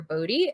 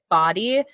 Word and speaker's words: Boddy: I know it looks like body, and sure, it would be cool if that was my last name because I'm a fitness professional, but it's not. It's Boddy.